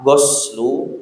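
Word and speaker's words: غَسْل: Kalau kata-kata ghasala dibaca pakai domah. Huslu artinya mandi. Tapi kalau dibaca pakai fathah, goslu artinya membasuh.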